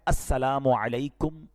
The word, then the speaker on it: السلام علیکم: ہاں سلام کی تلفظ ہی ٹھیک نہیں ہے. السلام علیکم, السلام علیکم, یہ سلام نہیں ہے, بلکہ بعض اوقات تو اس کے میننگ ہی آؤٹ ہو جاتے ہیں.